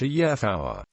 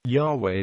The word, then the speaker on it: Yahweh: Yehowa, Yahweh.